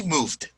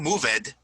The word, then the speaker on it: moved: When you're adding an ed to the verb, it's going to just pronounce the D. Notice we moved. It's not moved.